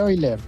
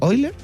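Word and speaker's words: Euler: fórmula la fórmula de oiler ya la fórmula de eiler eer sí eer eiler depende como uno lo pronuncie eer fue un gran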